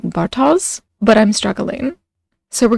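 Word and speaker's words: Bartosz: name I can't pronounce I believe it's pronounced something like Bartos but I'm struggling so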